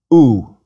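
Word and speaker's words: ου: Little O and big O combined with upsilon is pronounced like the OU in soup. Please repeat, omicron upsilon or omega upsilon, ooh.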